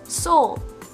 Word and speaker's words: Seoul: capital of south korea in english it's pronounced as soul as a play on